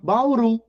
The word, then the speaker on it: Bauru: a palavra por exemplo a palavra Bauru a sílaba tônica é a última Bauru Bauru é a sílaba